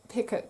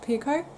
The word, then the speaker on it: picot: to catch on that it's actually a French word and it should be pronounced picot but to me it's just it's picot I can't get out